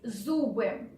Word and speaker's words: зубы: So sound z is a bit difficult here. Z, z, like zoo in English.